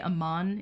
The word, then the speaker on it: Amman: or amman i say amman it was in one of the notes in the letters i think that amman is the only word where the emphasis goes on the second syllable it's a very rare exception